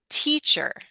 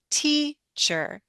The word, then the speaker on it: teacher: When I say teacher, it's the E that I'm lengthening. And it's the E Mm-hmm. that I'm not only lengthening, my pitch goes up, my voice goes up a bit, teacher.